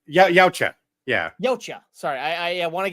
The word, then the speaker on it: Yautja: Yacha. No. Yautja.